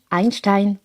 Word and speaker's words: Einstein: Pour info, Einstein était allemand donc c'est normal qu'on le prononce à l'allemande Einstein.